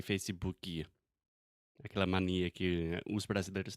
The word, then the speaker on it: Facebook: A lot of my students try to say Facebook and they're saying the oo sound like azul, atum, but it's just like put, push. So Facebook.